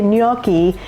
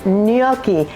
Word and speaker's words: gnocchi: Today we're making a potato dumpling called gnocchi, and that is how you say it. There's no other way to say gnocchi than that, and so you'll be making Italians very happy if you say gnocchi.